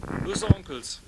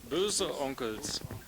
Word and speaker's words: Böhse Onkelz: How to pronounce the band's name? Böhse Onkelz. Böhse Onkelz.